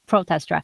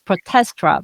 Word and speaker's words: Protestra: and orchestra, like the PROTESTRA. I've been wondering why you always put the accent on the first syllables. Now I understand. I was like, Yeah. I always thought it's protestra, but it's protestra.